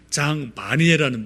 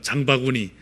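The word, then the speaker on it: Jean Vanier: 그분의 가장 중요한 분이 장 바니에라는 분이 계세요. 이름이 조금 어렵죠. 장 바니에, 잘못하면 장바구니 이렇게 좀 발음이 될 수 있는데, 장 바니에라는 분이 계시는데,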